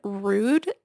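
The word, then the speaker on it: Rhude: It is the brand Rude. That is spelled, in case you're listening and not watching, R H U D E.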